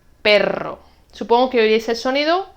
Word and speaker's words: perro: Prueba a pronunciar y ver si ves la diferencia. Caro, carro. Pero, perro.